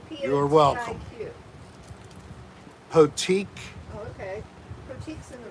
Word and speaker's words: Potique: Potique.